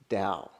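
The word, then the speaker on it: Tao: synonymous with the Dow which is a tricky pronunciation because it looks like tau right t aw Dow that's it's actually down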